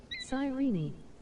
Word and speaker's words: Cyrene: holy she pronounced it right well sigh Rini cool located on the